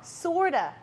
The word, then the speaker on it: sort of: 발음을 할 때는요, 연음이 돼서요, sorta 이렇게 발음이 돼서 실제로 표기도 sorta로 줄여서 하는 경우도 있습니다.